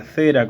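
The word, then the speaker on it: zera: que en el original se pronuncia cera con z que se refiere también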